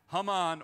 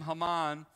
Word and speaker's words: Haman: to wreck and ravish his name haman is really close to hamon in in hebrew which literally means confusion so if this guy he's